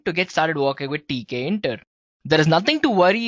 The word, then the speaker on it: Tkinter: Yes, it's spelled as Tkinter, right? So it's Tkinter, guys.